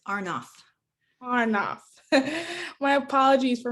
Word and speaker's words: Arnoff: we have the privilege of speaking with i may have mispronounced your last name um thank you for joining me today glad to be here thanks for having me and it's arnoff far enough my apologies for mispronouncing it so